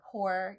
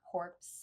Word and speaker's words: Corps: And also like it's Green Lantern Corps, not corpse.